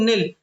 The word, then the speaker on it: knell: है, उसको बोलते हैं नेल। यहाँ पे के जो है साइलेंट है दोस्तों।